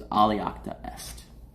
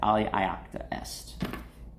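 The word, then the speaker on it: Alea iacta est: The other one was Aliacta Est. And I'm pronouncing it wrong. It's like Aliacta Est.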